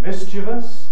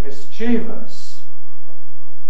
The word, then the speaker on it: mischievous: the lower one shows the traditional pronunciation mischievous stressed on the first syllable confronting the newer pronunciation or the formally stigmatized pronunciation mischievous with stress on the second syllable and then we find